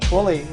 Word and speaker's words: Twilly: but Twilly, that's how you pronounce his name.